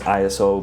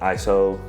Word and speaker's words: ISO: That's pronounced ISO, by the way, not ISO or ISO.